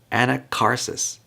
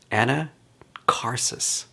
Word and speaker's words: Anacharsis: Anacharsis. Maybe that's how you say it. Anacharsis.